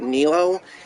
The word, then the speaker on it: Nelo: I just thought like I was gonna make my character Nelo, which I pronounce him as. That's what my thing being called GPU Nelo.